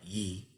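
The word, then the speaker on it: 一: We looked at one earlier, which is pronounced something like yi.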